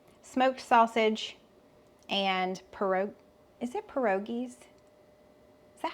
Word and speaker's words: pierogies: I've got 4 cheese pierogies. That's how you say it, right? I'm over here doubting myself. Let's ask old Google. Pierogies. Okay, Pierogies. I'm saying it right.